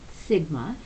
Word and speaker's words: Sigma: S and in Greek the letter S is pronounced Sigma so while we say s they say Sigma and it's their equivalent of a giant s so if you want to see that written out Sigma is spelled s IG MA and this is